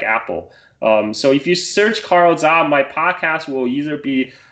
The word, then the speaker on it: Carl Zha: My name, Carl Zha, just Carl spelled with a C, and my last name, Z-H-A, Z like zebra, H like Henry, A like apple.